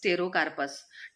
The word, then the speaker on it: Pterocarpus: P इज the silent, ठीक है, P silent है इसमें, इसलिए हम इसका प्रोनाउंसिएशन कैसे करेंगे, टेरोकार्पस करके करेंगे। ओके, P टेरोकार्पस नहीं बोलेंगे हम, P is silent, then टेरोकार्पस बोलेंगे।